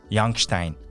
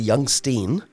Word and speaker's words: Youngstein: so um Mr youngstein mhm do I pronounce it correct that's fine if you if I were home in Switzerland that's exactly how they would pronounce it so that's fine so